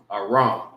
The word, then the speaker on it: Aram: And this is how you say it in the Hebrew, Aram.